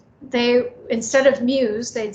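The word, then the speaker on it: Muise: name is muse it's just actually spelled m-u-i-s-e but it's pronounced muse so i just wanted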